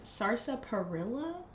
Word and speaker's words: sarsaparilla: Sarsaparilla?